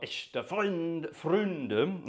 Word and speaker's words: Echte Freunde: It's called Echte Freunde, or Echte Freunde, if you want to do it in the proper pronunciation.